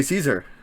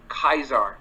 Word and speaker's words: Caesar: what are you supposed to shout uh ave caesar yeah except for that's wrong okay latin the v is a w kind of like in ua uh uh away kaiser is what how it's supposed to be pronounced